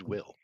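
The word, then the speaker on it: Wyll: W-Y-L-L. How's that pronounced? Let's see. Is that Will? It is indeed. W-Y-L-L. It is indeed Will.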